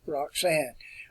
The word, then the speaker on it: Roxana: Alexander did take a wife, and her name was Roxanne. That's the way we would pronounce it here. I think they pronounce it Roxana.